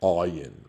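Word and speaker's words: עין: The ayin is a guttural letter, ayin, right?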